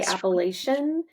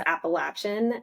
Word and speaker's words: Appalachian: well it's like anyone who didn't grow up around them say Appalachian but anyone who did knows it's Appalachin and Appalachin for my safety I'm going to jump on the Appalachin train.